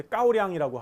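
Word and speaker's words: 高粱: 그래서 중국 발음은 이제 까오량이라고 하고요.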